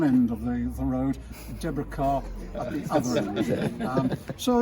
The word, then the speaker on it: Kerr: obviously remind the family, it's Kerr as in star. Don't try this Kerr thing, because you will only incur the wrath of the family then by mispronunciation. Kerr is the pronunciation.